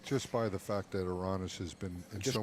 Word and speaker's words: Aranas: Well, the majority said Aranas. Aranas, and it's not over yet. Don't take that wrong. And I have no horse in this race, I but think just by the fact that Aranas has been in just so going much to